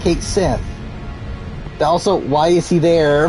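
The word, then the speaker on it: Cait Sith: they're both bad though there's kate sith which definitely pronounced cake sith also why is he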